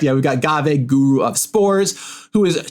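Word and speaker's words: Ghave: Is it Gave or Gave or Gav? Is it one of those things? Am I saying it right? Yes, you nailed it. And to this day, I nailed it. People still don't know how it's pronounced, but you got it correct.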